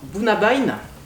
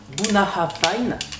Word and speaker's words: Bunnahabhain: une très jolie carafe alors bouna bein ça se prononce en gaélique bounahra payne et ça veut dire